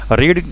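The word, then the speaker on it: read: रीड की third form भी रेड होती है, स्पेलिंग वही होते हैं लेकिन प्रोनाउंस रीड रेड रेड करते हैं।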